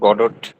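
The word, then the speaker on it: Godot: জানি আচ্ছা ঠিক আছে ওকে সমস্যা এটা জানলেই হবে মজার ব্যাপার হচ্ছে এই যে ওয়েটিং ফর দা গডট না এইটার উচ্চারণ হচ্ছে গড হ্যা ওয়েটিং ফর দা গড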